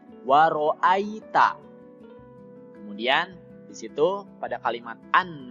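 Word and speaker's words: وَرَأَيْتَ: huluna fidinillahi afwaja penjelasannya yang pertama kalimat waroa Ita disitu yg dibacanya tidak boleh ae ya tapi Ai waroh Ita kemudian disitu pada kalimat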